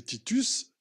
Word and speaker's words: Titus: Vous comprenez pourquoi vous avez chez Racine Titus qui rime avec vertu. On ne disait pas Titu pour l'empereur. On disait Titus à la rime et